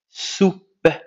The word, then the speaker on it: soupe: se prononce sou soup soupe soupe alors la lettre E ne se prononce pas soupe soupe le son che alors